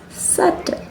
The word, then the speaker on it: subtle: It's subtle. Only subtle. Okay. So hopefully you had matched your pronunciations with the correct pronunciation.